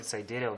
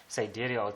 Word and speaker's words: sidereal: me I for me I usually call it cidial because that is easier on my tongue siderial time but you can call it cidial time depends on on the pronunciation that you want to use um so yeah okay